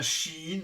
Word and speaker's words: Shein: Alors dites bien Shein, ça vient du terme She Inside. Et puis ils ont enlevé le side. Donc ce qui reste, c'est Shein. Et on voit plein de prononciations bizarres et baroques de ce Shein. Mais l'officiel est bien She Inside.